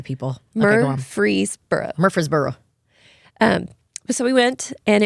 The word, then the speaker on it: Murfreesboro: it very well I've gotten better about it Murphy's Borough Murphree it is spelled bizarrely very hard to say people murder free Murfreesboro um so we went and it was his